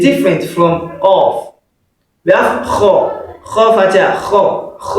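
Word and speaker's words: قاف: It is qaf. What did I say? Qaf. Yeah, you must pronounce it as if you are pronouncing q. Qaf.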